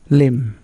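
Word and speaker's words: lamb: তারপর লাম মানে ভেড়া। এখানে বি উচ্চারণ হচ্ছে না।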